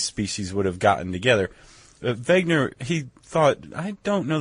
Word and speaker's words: Wegener: a guy named Alfred Wegener. Okay. He's German, clearly. Okay. Because his last name begins with a W, but I pronounced it with a V.